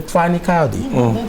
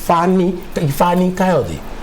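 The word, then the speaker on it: Fani-Kayode: I want to call him Fani Kayode. All right, I think that's the Yoruba pronunciation, Fani Kayode.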